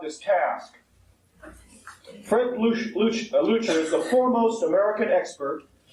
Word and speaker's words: Leuchter: chamber technology he is Mr Fred a lucher Jr or some pronounce it lyer a few weeks ago he said to me on the phone you can call me lucher or leyer just don't call me leer last February Mr lucher